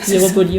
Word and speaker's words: Ieropoli: Bonjour, alors aujourd'hui on reçoit Hieropoli, je le prononce bien? Ouais, Hieropoli, ouais. Hieropoli, super.